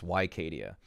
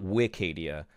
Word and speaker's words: Wicadia: That's Wycadia, not Wicadia, which I would rather say. I would rather say Wycadia. It's easier. It rolls off the tongue. But apparently, I have been informed it's Wycadia.